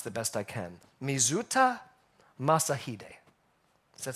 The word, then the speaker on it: Mizuta Masahide: Now this name, I'm going to pronounce the best I can. Mizuta Masahide.